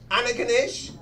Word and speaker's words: Antigonish: living in Antigonish yes we're pronouncing it right Annika dish and what you've taken about five letters out of the word I